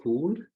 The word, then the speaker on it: Koulle: my name is but I prefer to be pronounced cool because it's cool and I'm from Cameroon